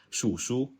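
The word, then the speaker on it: 鼠: Members began to referring to themselves as rat rat in Chinese is pronounced as shu ratrat and expressing their sense of social marginalization and low status through self-deprecating humor.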